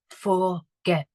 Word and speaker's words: forget: Now, in this one, I've got my syllable forget, and get is the bit that is stressed in that word, so I need to double the T at the end.